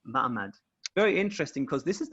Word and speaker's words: ma'amad: spelled without an h it's spelled with an ein it's m ein md that's like that would be like m-a-m-d mahmad very interesting because this